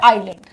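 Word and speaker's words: island: ठीक है, नेक्स्ट आता है आइलैंड, इसका सही प्रोनाउंसिएशन है आइलैंड।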